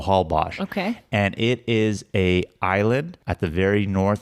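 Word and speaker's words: Holbox: recently discovered called hbos it's spelled h box so that X is Ash so Hal bash and it is a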